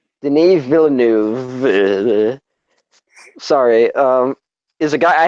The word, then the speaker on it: Denis Villeneuve: The only thing for me was, all right, so how do you pronounce the director's name? I always fuck it up. Denis Villeneuve. Denis Villeneuve.